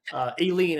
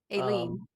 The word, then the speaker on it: A Lien: A lien is how we say it. A lien, like a lien on your house.